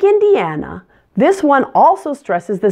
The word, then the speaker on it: Indiana: silent Illinois Illinois Indiana I know this word looks just like the word Indian but don't be fooled the stress pattern is different stress falls on the third syllable and Indiana Indiana Iowa this tiny little